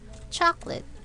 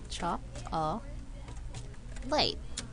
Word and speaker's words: chocolate: word the word is chocolate when we write this word we say CH late oops I'm sorry chop light looks like three syllables but in speaking we only have two chocolate okay guys let's